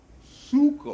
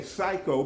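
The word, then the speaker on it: ψύχω: Suko. Psucho. We say psycho, but it's in the Greek it's pronounced suko.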